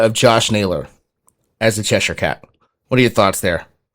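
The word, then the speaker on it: Cheshire cat: Is it chessier cat? Cheshure cat.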